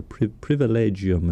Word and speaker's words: privilegium: And this was safeguarded as far as communal possessions were concerned by a papal privilegium, or privilegium is the right better pronunciation, of 1228 for three convents, including San Damiano.